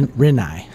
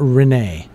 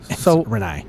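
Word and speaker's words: Rinnai: it's uh re re renei the a is silent yeah it's not Renee renei what are the advantages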